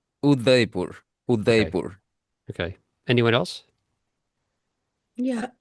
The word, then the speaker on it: Udaipur: I mean, pronounced as say the whole name. Udaipur. Udaipur.